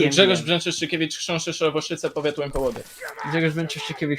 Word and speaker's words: Brzęczyszczykiewicz: Brzęczyszczykiewicz, Chrząszczyszowoszyce, powiat Łękołody.